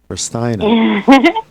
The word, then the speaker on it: Ristaino: Ristaino.